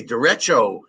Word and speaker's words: derecho: I had to look up how to pronounce it. Derecho. It's like the right. It means right in Spanish, I guess.